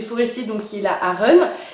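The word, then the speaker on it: Aachen: donc qui est la Aron, qui s'écrit A-A-C-H-E-N, donc s'écrit Achen, mais ça se dit Aron.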